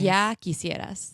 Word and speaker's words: Ya Quisieras: Yaki Sierras.